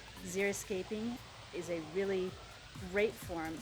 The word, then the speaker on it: xeriscaping: also landscape design called xeriscaping which a lot of people mispronounce and call it zero skating which it is not xeriscaping is a really great